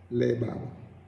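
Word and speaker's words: לבב: Labab, and it is basically lamed, bet, and bet, labab. And of course, you know, it has the vowel markations. Labab. It's like you're saying L-E-B-A-B, if you were to spell it in English, but which is, you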